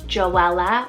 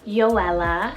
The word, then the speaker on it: Joella: down the list here i have the name joella or joella spelt j-o-e-l-l-a it's a hebrew name meaning the